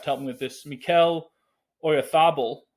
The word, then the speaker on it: Mikel Oyarzabal: But then not long after that, Spain substitute, and Kamala may have to help me with this, Mikel Oyarzabal, I believe is how they go with that pronunciation.